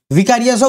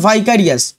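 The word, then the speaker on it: vicarious: ভিকারিয়াসও বলতে পারো, কিন্তু সঠিক প্রোনাউন্সিয়েশনটা হচ্ছে ভাইকারিয়াস।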